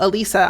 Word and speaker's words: Alisa: way to remember it which is a singular Lisa they still will get